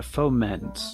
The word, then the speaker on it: foment: So yeah, foment with the emphasis on the second syllable.